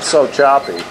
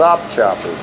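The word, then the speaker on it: Sopchoppy: Not Sopchopy. There's a P in there, by golly. Mm-hmm. Sopchopy.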